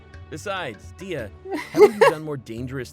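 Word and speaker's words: Dehya: But That's how you pronounce her name, Dia?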